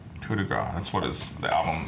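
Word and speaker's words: coup de grâce: Coup de grace? How do you say it? Coup de grace. Coup de grace.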